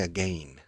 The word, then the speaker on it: again: Porque la gente dice again. Vale. Entonces, gin. I look for a different word, and it helps them pronounce the second syllable correctly.